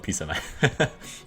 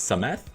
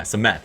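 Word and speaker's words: Psamathe: I'm just going to call it P-Samath. Alright. And I think the P silent. So it's Samath? Yeah, Samath.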